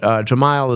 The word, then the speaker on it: Gemayel: Well, it's Gemayel is a proper pronunciation. Now that I know you know Arabic, now I actually want to sit and learn something. You got to try to say it right, but Gemayel is the way I usually say it in English.